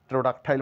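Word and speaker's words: pterodactyl: বলবো আমরা টেরোডাক্কটাইল টেরোডাক্কটাইল এখানে পি এর কোন সাইন নেই টেরোডাক্টাইল মানে ঘাড়ের মাংস বেশি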